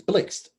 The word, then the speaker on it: Blxst: It's Blixt. Oh, it's Blixt.